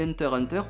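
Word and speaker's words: Hunter × Hunter: hunter hunter et oui ça se dit hunter enter on prononce pas le x la promesse d'une aventure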